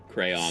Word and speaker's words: crayon: do you say crayon I say it the same way you do which is kind of like crane crayon c-r-a-n crown as I was drawing